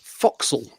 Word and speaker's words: forecastle: And it's foxel. Foxels, foxels. Forecastle. Foxel.